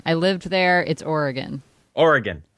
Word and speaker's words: Oregon: And then, of course, he completely smoked her in, do you pronounce it Oregon or Oregon? It's Oregon. I lived there. It's Oregon.